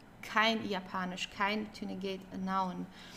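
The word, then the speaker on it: Japanisch: do you speak Japanese don't forget the German Y is pronounced as like the English y so yanish okay it's not japanish or something it's yanish um so then we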